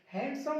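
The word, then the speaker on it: handsome: इनके अलावा देखो handkerchief, हैंडसम, sandwich, वेंसडे, वेंसडे, वेडनेसडे नहीं होता, सैंडविच नहीं होता, सैंडविच, हैंडसम नहीं, हैंडसम। अगला ई साइलेंट सीखा हमने वर्ड्स के लास्ट में, और इन शब्दों में आपको पढ़ना है।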